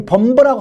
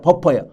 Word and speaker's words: buffer: 생각 없이 범버라고 하는데, 이 범버라고 하는 게 스페링이 버퍼예요. BUFFER, 버퍼예요. 근데 이 버퍼라고 하는 단어를 일본 사람들이 혀가 짧다 보니까 범버라고 처음에 발음을 해서 우리나라에서도 그냥 많은 사람들이 아무 생각 없이 그냥 범버 하는데 그 범버가 버퍼예요.